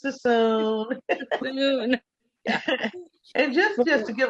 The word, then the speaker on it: Suisun: of water after saying Sassoon so many times. Suisun City. It's because nobody knows how to pronounce it. What is it, Suisun? Yes, that's the normal thing. Is it Suisun? Like, no, it's Suisun.